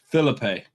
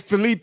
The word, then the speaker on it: Felipe: Filipe. Okay. Filipe. Felipe. It's a e on the end.